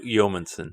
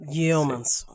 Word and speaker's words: Yeomanson: yo no sé cómo pronunciar tu apellido. Yeomanson. Yeomanson.